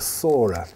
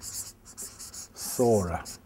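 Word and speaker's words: Psora: the biggest of these he called the Sora which is spelled like this spelled with a p Sora and Sora according to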